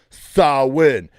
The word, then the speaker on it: Samhain: winning at life okay that's how you properly pronounce the name sawwin everybody gets it wrong even the band glenn